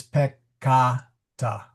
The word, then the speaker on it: peccata: So the accent, this vowel is long, so it is peccata, since the A in the second syllable is long.